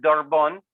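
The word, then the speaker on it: דרבון: Pronunciación de la palabra, es decir, como se dice en hebreo, es dorbón, esa palabra para aguijón.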